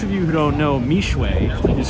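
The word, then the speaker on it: Mixue: So for those of you who don't know, Mishwe is spelled M-I-X-U-E, and it's the largest fast casual brand in the world.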